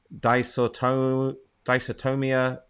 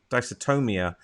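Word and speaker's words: dysautonomia: patience with and i'm going to probably prom pronounce this wrong disorton dysotomia forward slash pots p-o-t-s are you familiar with that no no don't ask her what dicertonium dysotomia d-y-s-a-u-t-o-n-o-m-i-a i'm not sure what that is i'm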